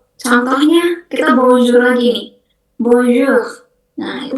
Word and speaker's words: bonjour: Bonjour. Nah, itu bacanya bonjour.